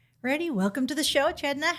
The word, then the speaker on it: Cedna: I would have pronounced it Cedna had I not known. It was Chedna.